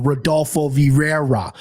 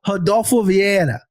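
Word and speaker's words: Rodolfo Vieira: an School of pronunciation my Midwest ass would go rodulfo Vira that's what I would say but no I've been through the hard I've been through this training so I'm gonna go Hado via and I think again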